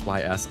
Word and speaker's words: Ys: the guest characters uh did you say ease I think it's pronounced as Ys I did and it's